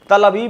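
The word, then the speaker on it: Tel Aviv: तेल अवीव, जिसको तल अवीव कहना चाहिए, रवीश ने कुछ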